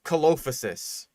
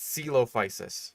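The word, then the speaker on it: Coelophysis: Like celophis is one that I see a lot of people struggle with because it's like c o e. It's like caloposis. No, that's not quite right. It's it's celopicis.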